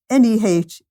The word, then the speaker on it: Nehebkau: The primordial or original snake god is written down as Nehebku. That's Nehebkau. So somebody who understands Egyptian will get that better than me.